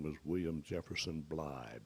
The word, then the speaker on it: Blythe: name was william jefferson bly b-l-y-t-h-e that line that rhymes with lie uh probably blytheville arkansas